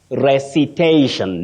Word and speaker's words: recitation: Just like we have combine, combination, compile, compilation, invite, invitation. Now, recite, recitation, not recitation. Wow, interesting.